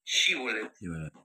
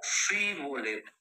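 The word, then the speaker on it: Shibboleth: Si él respondía no, entonces le decían, "Ahora pues di shibolet." Y él decía, "Sí, boleto, porque no podía pronunciar correctamente.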